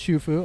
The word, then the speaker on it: Xu Fu: It's pronounced Shufu.